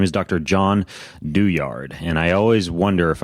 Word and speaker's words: Douillard: I'm going to go with the the Euro pronunciation of doyard um anyways it's it's a great book John